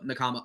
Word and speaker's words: Nakama: You Um, pronouncing it right made me realize I've been mispronouncing it this entire episode. Whoops. what do you mean? When I talk about Mr. Namaka, because well, Nakama, I can't speak sometimes, but Mm.